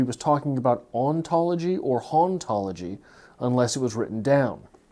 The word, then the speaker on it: hauntology: da was French and the H in his in French would be silent so haunt ology and ontology would have the same pronounciation and this is big